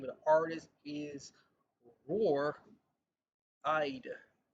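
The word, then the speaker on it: Roar Eide: The name of the artist is Roar Eyed. Roar Eyed. And Roar, just like a tiger, rawr, rawr. And Eyed is spelled Eide, Eide, Eide.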